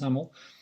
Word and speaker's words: XAML: XAML is pronounced as XAML.